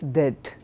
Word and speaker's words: debt: For example, a word like debt, d e bt, it's dead. For example, a word like reset, the p is silent.